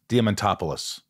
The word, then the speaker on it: Diamantopoulos: This is called Shit Talking with Chris Diamantopoulos.